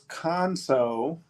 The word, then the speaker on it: Khonso: So, tell me the pronunciation of the brand. Got it. Our name is Conso Brewing.